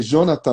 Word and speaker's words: Djonatan: É de Jonathan, é isso que eu pronuncio? Jonathan. Jonathan, E perfeito.